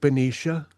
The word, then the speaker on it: Baneesha: And while our name is not pronounced in human form, you may call us that Benicia and we shall associate with it. Thank you Benicia.